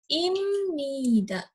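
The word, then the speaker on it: 입니다: it nih dah tulisannya Tulisannya adalah Ibni darat tapi dibacanya imnida Hai Joko ini jalan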